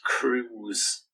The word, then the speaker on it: Krug: in 2017 facado asked how do you pronounce your last name and said oh it's actually pronounced cruz wow like penelope cruz that's it wow i